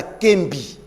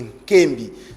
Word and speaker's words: Nkembi: Rectification, Madame Kembi. Nkembi, il faut bien prononcer Nkembi.